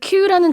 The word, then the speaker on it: queue: 그 queue라는 단어부터 지금 봤는데요. 줄 서는 것도 queuing이고 그다음에 이제 그 줄 자체도 queue예요. 발음은 그냥 알파벳처럼 들리죠. 근데 스펠링이 굉장히 깁니다. Q-U-E-U-E 이렇게 써요. 발음은 그냥 queue예요.